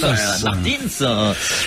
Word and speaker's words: Martins: Alors, mais moi, je tiens à ce que le S se prononce même en français. Merci, monsieur Martins. Je vous en prie. Martins.